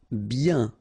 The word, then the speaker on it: bien: Bien. Okay, so remember, when you get this combination of I-E-N, you get the sound yen, yen, okay, and then B.